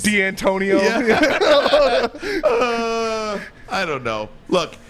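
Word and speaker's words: Dantonio: If they don't get their way, you better pronounce my coach's name right. Remember all those Mike D'Antonis? D'Antonio.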